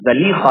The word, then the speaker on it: Zulaykha: One of our teachers, Qari Ayyub, he had mentioned one time that the actual pronunciation is Zalikha, not Zulaykha, which is very interesting because everyone says Zulaykha.